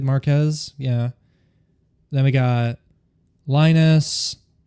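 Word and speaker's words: Marques: Um we've even had uh people like, let's see here, MKB uh BHDs, you know, Marcus Brownley, I believe is how you say it. Marquez.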